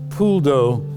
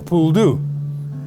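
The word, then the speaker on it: poule d'eau: that's where we get pasta throughout cajun food pool dough which is uh that's how is pronounced correctly in french has been bastardized to become a pool do and uh they are coots them thousands and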